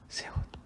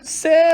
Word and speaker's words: 새: 새로운 있고 싶지 않습니까 새 세운 아 저는 차가 굉장히 오래 됐고 여태까지 다 중고차 만 샀는데요 저도 새차 사고 싶어요 그런데 이것을 새 라고 발음하는 사람들보다는 쎄 라고 발음하는 사람들이 정말 도 많습니다 3차 3 5 4